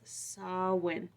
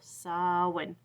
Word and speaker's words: Samhain: It's spelled Samhain, and so I want to pronounce it like that, but it's Samhain. I looked it up on Google. Samhain.